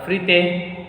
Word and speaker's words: frites: Frite. Arey looch. See, this word is not one syllable word. This word is not made of maximum 3 letters. So S will be silent.